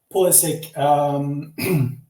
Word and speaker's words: Pulisic: Well, yeah, he said that he himself pronounces it the American way, so I'm trying to do the same, even if it goes all against all my natural instinct. Pulisic, yeah, he's great.